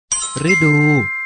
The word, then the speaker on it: ฤดู: อ่าน ให้ ถูก ต้อง ฤดู พ ฤ ดู ออก เสียง ว่า ฤดู ดาว ฤกษ์ ออก เสียง